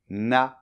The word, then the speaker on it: naïf: Le mot NAÏF . Ce mot en fait est très simple à prononcer, il suffit de faire , et ensuite .